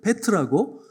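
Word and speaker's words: πέτρα: 이 반석 위에 교회를 세운다고 하시는데 그 반석과 베드로의 반석 이름이 비슷하기 때문에 이 반석이 할 때는 페트라고 베드로야를 부를 때는 페트로스예요.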